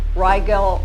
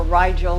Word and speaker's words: Rigel: Nordics from Rigel or Rigel, depending upon which source of pronunciation you're reading.